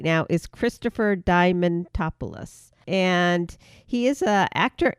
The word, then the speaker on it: Diamantopoulos: And the other voice actor for Mickey right now is Christopher Diamantopoulos.